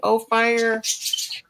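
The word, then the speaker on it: Ophir: O fire. And when I when I type it in, it don't come up. So Oh, fire. Yeah, they say o fire.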